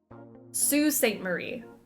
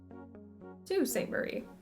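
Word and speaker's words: Sault Ste. Marie: to have seen the look on his face Sue St Marie s a u l t is pronounced Sue Sue St Marie excuse me um why why the extra letters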